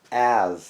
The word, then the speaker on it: adze: It's pronounced Adze, I believe. It's A-Z, sometimes A-Z-E.